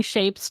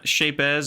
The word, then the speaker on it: Shapez: about some shapes or shapes or shapes however we pronounce it to and yeah I like I like building shapes so I like to pronounce the Z it's satisfying for me for whatever reason uh and then we'll